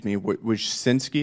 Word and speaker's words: Wojcicki: Miss Wojcicki, is that how you pronounce it? Yes, Wojcicki. Wojcicki.